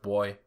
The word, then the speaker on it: buoy: It's pronounced boy.